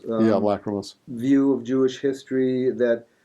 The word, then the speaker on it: lachrymose: I don't even, not even sure how to pronounce this. The Lachrymos Yeah, lachrymose.